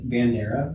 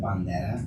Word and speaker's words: Bandera: just like when you pronounce words like Bandera instead of Banda right right right you know like that's North of San Antonio so it's Banda very interesting yeah yeah